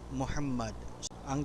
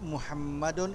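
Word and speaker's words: محمدًا: ng sukun ang salitang Muhammad. Ang tamang pagbigkas ay Muhammadan, hindi Muhammadun, hindi rin Muhammad.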